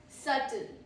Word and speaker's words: subtle: Then is subtle. Be silent. Subtle. Subtle. Meaning delicate or not obvious. Delicate or not obvious. Pro tip is be completely silent.